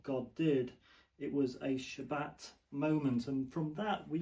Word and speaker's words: shabbat: uh spelled s a b- a t but pronounced shabbat.